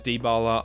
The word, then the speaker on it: Dybala: It's Dybala, not Dybala. I am very sorry. I'm a silly English man who knows not how to pronounce other people's names. It is Dybala.